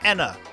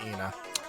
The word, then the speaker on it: Ena: This is Ena Dream Barbecue or rather Anna Dream Barbecue. Uh a very Okay, so there they pronounce it Ena.